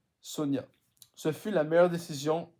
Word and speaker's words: Sonja: C'est écrit Sonja, hein, mais dans les pays scandinaves, le J se prononce comme un Ya, donc c'est Sonia.